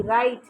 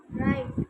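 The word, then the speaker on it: right: एच T sorry R आई जी एच टी राइट राइट जी एच क्या होता है?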